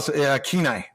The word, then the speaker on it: Kenai: for all of us, Sway included, to the Kenai River cabin for some fishing.